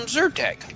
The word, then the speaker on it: Zyrtec: get some get some Zyrtec that's Intertek it's absurd that sir with a Z we spell it with a Y but say it with you sir - how far should